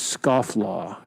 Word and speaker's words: scofflaw: that's pronounced I go really how is it pronounced and then she'll learned me like the last one she taught me was scoff law I now I don't know how I was